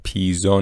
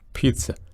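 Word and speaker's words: pizza: ژانر ژانر شماره ۸ پیزا نیست به هیچ وجه حتی اگه توی فونتیک نگاه کنید صدای سه هست پیتس تی رو کامل داریما پیتز پیتز و شماره نه هم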